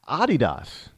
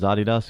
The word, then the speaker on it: Adidas: Adidas. Did you know that's how they pronounce it in Europe is Adidas? We say Adidas. In places like Ireland and England and France, Spain, they say Adidas.